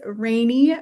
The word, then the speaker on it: Rani: So my name is Rani. It is pronounced rainy, like the weather.